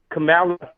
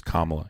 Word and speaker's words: Kamala: Camala. Would you let Kamala babysit your child? If you don't say her name correct, I'm going to kick you. Her name is Kamla.